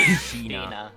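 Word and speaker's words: Shih-na: Sheena. Sheena? Alright, I'm just gonna... Okay. But Sheena currently is tied to the smuggling ring.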